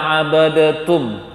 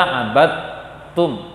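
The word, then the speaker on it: عبدتم: Jangan dibaca abadatum. Ada juga baca suatu peristiwa yang ada di Pekanbaru yang jumpai, bukan suatu. Udah ada beberapa tempat lah mereka baca oleh imam-imam nekat abadatum bacanya. Karena di Al-Quran yang biasa dia pakai tanda sukunnya masih ada, tanda tasydid juga ada, ini dua-duanya ada, sehingga dibacanya abadatum. Seharusnya apa? Abadtum.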